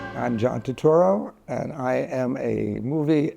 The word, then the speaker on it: Turturro: Yeah, this guy says my name perfectly. Turturro. He says, see, that's how you say my name. I'm John Turturro, and I am a movie and poster addict.